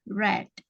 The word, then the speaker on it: read: read ya bentuk kedua tulisannya sama tapi cara membacanya saja yang berbeda membacanya red ya ketika kamu sama pengucapannya ketika kamu mengucapkan warna merah Apa warna merah warna merah bahasa Inggrisnya R red ya sama seperti itu cara membacanya jadi bedanya yang pertama